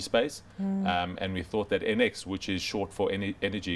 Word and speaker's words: ENX: NX, even though it's spelled ENX.